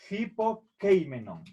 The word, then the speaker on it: hypokeimenon: Por lo tanto, al momento de pronunciar en griego esta palabra, tenemos que hacer un sonido, es aspirar la Y, como si pusiéramos una J delante de la Y. Por eso es hipokeimenon.